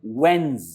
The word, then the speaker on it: When's: और when is का contraction है whens. whens इसकी प्रोनाउंसिएशन है whens.